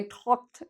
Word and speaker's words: talk: A lot of students, this is a very important word, talk. Okay, a lot of students want to say talk. I talked to my friend. We don't pronounce the L. So we say talk.